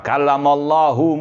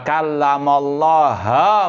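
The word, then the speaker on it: وكلم الله: mereka membacanya dengan wa kallamallaha Musa taklima. Nabi Musa yang berbicara dengan Allah. Itu salah satu bentuk tahrif harokat. Ya, harokatnya dirubah, wa kallamallahu menjadi wa kallamallaha.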